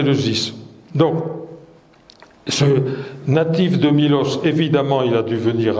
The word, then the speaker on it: Milos: mlos avec un état le état se prononce i donc en grec moderne on dit Milos nous l'avons francisé et